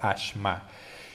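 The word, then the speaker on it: אשם: La palabra sacrificio en el lenguaje hebreo se pronuncia ashma, y sacrificio también se entiende como culpa o expiación.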